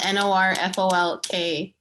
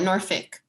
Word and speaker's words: Norfolk: That's so funny because my friend's from Norfolk. It's spelled Norfolk, you know, Virginia, but they call it Norfolk. Norfolk. It's weird, right? But it's spelled folk.